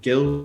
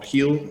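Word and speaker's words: Bryan Gil: They've recently signed Brian Gill, or Heel, I think it is. Yeah, the official pronunciation.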